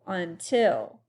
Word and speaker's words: until: Here the stress is on the last syllable. Until.